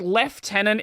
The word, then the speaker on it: lieutenant: However, there is a the like left tenant is like a I think it's I think it's closer to the original French pronunciation, but it's the we've lost the spelling over the years.